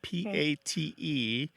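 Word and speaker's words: patte: So you translated, they sound almost the same, pot and pat.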